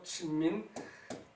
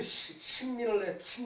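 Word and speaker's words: 新民: 그 제명명덕 이제 신민 이것을 신이라고 써놓고 친이라고 읽죠, 그죠? 친 마찬가지예요. 친민 그 다음에 지어지선이죠, 그죠? 그러니까 삼강령 그 명명덕을 하고 그리고 저기 그 친민을 해 그 저기 그 세상을 저기 그 화를 하는 게 친민이에요, 그죠?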